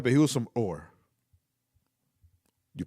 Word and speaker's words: Ur: But he was from Ur. You pronounce it Ur, Or not your, like, Ur.